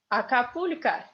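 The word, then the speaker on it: Акапулько: Acapulco. Same story. Accent is stresses on U and the O is like A.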